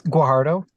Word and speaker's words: Guajardo: It's Guardo. Oh, spell it.